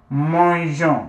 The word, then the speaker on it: mangeons: So, to maintain the je, the soft G sound, put an E before adding your O, N, S. So the sound is still je, right?